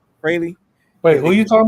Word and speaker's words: Fraley: Fraley.